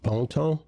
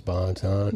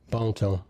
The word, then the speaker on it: Bonton: Yes, it's Bontan, but it's it's it's creo, so it's pronounced Bon. See, I knew there was something else to that. But everybody, the American version is Bontton.